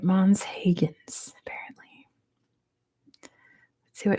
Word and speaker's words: Huygens: Higgins is how you say it. Mon Higgins apparently.